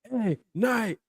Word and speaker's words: LA Knight: And then he goes, basically, let me tell you how to say the name. LA Knight. Yeah. So he wanted her to pause.